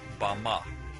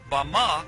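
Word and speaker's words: במה: in the Strong's Hebrew dictionary and it is pronounced Bama Bama is most commonly used to refer to a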